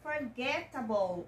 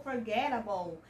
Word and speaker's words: forgettable: você pronunciar a sua a letra E deste sufixo você não vai pronunciar você vai terminar sua pronúncia no L língua dos dentes tá